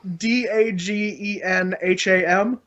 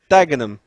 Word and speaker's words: Dagenham: it's a guy to have like a silent ha ha da GE nham yeah so I can spell it you can smell it but I can't say it you really let a German dagenham damn damn dagenham okay